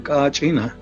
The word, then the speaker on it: kachina: what their word means pronounced in different ways throughout in Hopi and other Pueblos some places they're called katsina and other places they call Kachina so but it's the same one and then this is